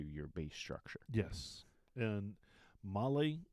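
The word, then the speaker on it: MOLLE: base structure yes and Molly is Molly not Molly or mole or Malay yeah there's no Bali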